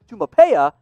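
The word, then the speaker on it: Taumoepeau: name is a mouthful if you want to pronounce it it's charlie tumapaya but charlie t has the build of that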